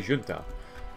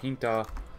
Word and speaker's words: junta: Also, I want to let you know the word junta is pronounced with an H instead of a J. I would say junta. Is it not junta? Am I that illiterate? I might be that illiterate. Is it really with an H? Huh. Well, good to know. I'm still going to mispronounce